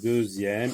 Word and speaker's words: deuxième: Donc deuxième, ici, la lettre X se prononce Z.